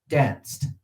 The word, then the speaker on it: danced: Danced. Danced. How many syllables? Of course, only one. It's the very same concept as the other one. The ed on the end are basically, it sounded like a T.